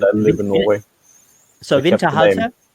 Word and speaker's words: Winterhalter: you can Winterhalter. Is that the right pronunciation? It's German. It's really good. It's German, yeah. So I'm German, but I live in Norway. So Winterhalter? Winterhalter, yeah.